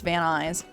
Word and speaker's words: Van Nuys: you doing yeah so v-a-n-n-u-y-s let's pronounce van eyes and okay now it